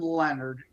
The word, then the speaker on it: Lenard: Lenard. .us, and there's no O in Leonard. It's pronounced like Leonard, Leonard, but it's Lenard.